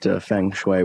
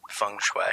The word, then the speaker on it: feng shui: her about it and Laura knew exactly what Feng Shui was hungry Fung Shui I can't believe I'm correcting your pronunciation of this thing I don't even know